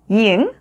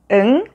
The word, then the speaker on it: 이응: Second, 이응 sounds like the letter ng in the word ring. 응, 응, 응.